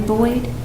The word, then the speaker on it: Boyd: Tell me how to say it correctly. Boyd? That's correct.